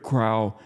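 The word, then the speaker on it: Crowe: It was said that the men of 2-8 feared Crow more than the Japanese. I call him Crow because of Admiral Crow. That's how you pronounce his name, former CNO and former Chairman Joint Chiefs of Staff, sorry.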